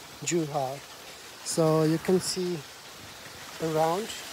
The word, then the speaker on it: Zhuhai: Zhuhai, Z is pronunciated as like Z, or Z is pronunciated as J, Zhuhai.